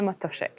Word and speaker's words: Matuszyk: it's Matoshik. Okay, thank you. I mean, I'm Portuguese and my my name gets pronounced badly all the time, so but I I really try my best.